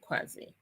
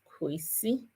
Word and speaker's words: Kwesi: That no, don't allow people to call you Kwasi. Your name is Kwesi Kwarteng.